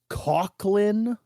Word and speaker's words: Coughlin: audiobook is uh called cochlin okay even though it's spelled c-o-u-g-h-l-i-n so my mind that would be Coughlin right but the guy pronounces it cochlin like it has a K in it but whatever um cochlein